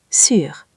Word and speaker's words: sur: Écoutez bien ma bouche pour sûr on la bouche est petite en avant comme pour faire un bisou. Sûr !